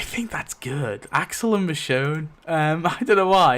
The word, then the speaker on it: Michonne: So, Axel um Michonne or as Chris Hardwick would say it, Michon. That's how Chris Hardwick first pronounced.